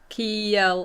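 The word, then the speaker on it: Kjelle: k k k no so it's like a silent J ke yeah a little bit oration in German where it's like a y sound okay I think I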